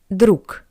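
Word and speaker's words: друг: And the reason is that the voice consonant G at the end of the word is read as a pair to it voiceless consonant C changed to C d.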